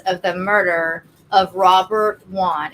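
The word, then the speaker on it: Wone: the murder of Robert Juan it's w NE um and that is how it seems to be pronounced so Robert Eric Juan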